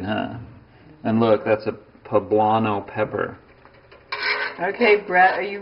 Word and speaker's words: poblano: and look that's a poblano pepper okay bread are you ready to taste this amazing i learned the pronunciation of that too i was saying pablama in a video the other day that's silly okay here's